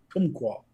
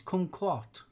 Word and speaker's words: kumquat: and it's colder what kumquat a kumqua yeah kumquat kumquat oh it's kumquat yes as a deal